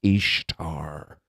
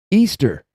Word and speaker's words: Ishtar: They pronounce her name as Ishtar. But actually in the regions where she's worshiped, it was pronounced Easter.